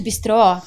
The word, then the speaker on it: bistrô: porque ele na verdade Bistrô entramos e normalmente a o acento ele vai na última sílaba na segunda sílaba não é por isso que é Bistrô e rotisseria besteira porque